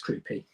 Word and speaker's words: Kroupi: Is that how you pronounce his name? Is it Kroupi? Yeah, it's Kroupi.